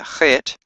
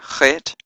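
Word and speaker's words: חֵית: The eighth letter, Chet, has a Ch sound as in Loch or Bach.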